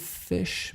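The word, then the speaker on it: Phish: Although I believe correct me if I'm wrong, I believe Fish may have covered this song in okay. concert. I know that there was a band, I want to say Fish, spelled with a P, P-H.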